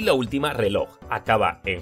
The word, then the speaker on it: reloj: al último ejemplo tenemos la palabra reloj lo separamos en sílabas truco de la palmada reloj y ahora pasamos al truco del lobo lleva la fuerza de voz en la última sílaba Así que también es aguda ahora vamos a responder